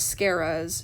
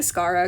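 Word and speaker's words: Scarah: scara's um name pronunciation i've been saying scarra because i heard a lot of people say it it's scara that was my bad i don't i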